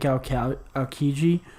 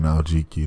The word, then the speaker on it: Aokiji: I think Aokiji, I think he legitimately cares. Look at you not saying Aljiki today.